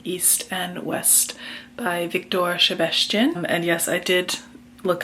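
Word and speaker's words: Sebestyén: up that pronunciation um for my fellow englishspeaking folks when there is a singular s in a Hungarian word and it's not followed by as Z then it is pronounced with a shh sound and only when there is a SZ is it a s sound this is a book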